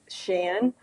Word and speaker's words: Sian: It's Shan, but it's spelled like Sian.